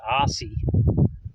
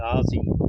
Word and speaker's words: Aussie: Now, down here they don't say Aussie like we pronounce it Aussie. But, down here they actually say Aussie with a with a Z.